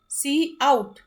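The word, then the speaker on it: cout: operator use होता है सो सी आउट is pronounced eight pronounce सी आउट एंड इट is used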